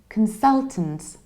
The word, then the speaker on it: consultant: I don't say come I don't say con I reduce the beginning can its can can fell then you stress Sal console and again you reduce the ending it can sell tins so you're reduce the very beginning and you reduce